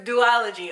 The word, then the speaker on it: duology: do ology duology okay so it's do ology okay so I was